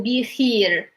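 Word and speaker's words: بخير: But this is just an example to show that when we have this like the I sound over here, we pronounce it as E. So be here, which mean like it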